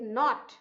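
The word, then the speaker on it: knot: So there are some silent letters in some words, like not. So here K is silent.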